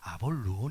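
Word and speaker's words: Apollyon: 아볼 오리 되었든 간에 히브리 식 발음은 아바돈 이고 헬라 식 발음은 아볼 온 인데 사탄의 다른 형태의 이름입니다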